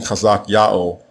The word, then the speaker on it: Chazak Ya'o: When this artifact was discovered, scholars were left scratching their heads because King Chazak Ya'o, or Hezekiah as he is called in English, used Egyptian iconography in his royal seal.